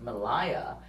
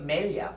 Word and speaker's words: Melia: So my name is a Greek name, which I am not, but it should be pronounced Melia. But I grew up Melia, porque así en Mexico, no?